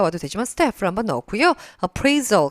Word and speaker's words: appraisal: 직원을 평가하는게 될테니까 st appraisal 같이 우리가 묶어서 보면 좋겠습니다이 자리에 물론 퍼포먼스가 와도 되지만 스를 한번 넣었고요 appraisal 강세 위치가 뒤에 들어가서 얘도 평가라 뜻이거든요 직원들을